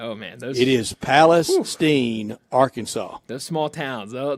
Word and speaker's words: Palestine: Is pronounced just like Palestine, Arkansas.